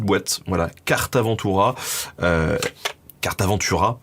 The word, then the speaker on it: Cartaventura: voilà carte avant tout carte Aventura je sais pas pourquoi je le prononce à l'espagnol je pense que je pense à Port Aventura qui m'avait marqué quand j'étais adolescent mais donc c'est carte Aventura caravane voilà alors carte